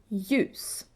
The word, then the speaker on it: ljus: The easiest is LJ. Basically, you ignore the L. You don't say lje, you say ja. Ljus.